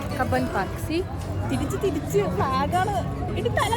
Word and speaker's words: Cubbon Park: How should we pronounce it? Cubbon Park. Cubbon Park.